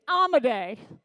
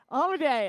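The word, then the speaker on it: Amodei: familiar to anyone okay Dario amade say his name with me amade amade a lot of people say it wrong Dario amade was one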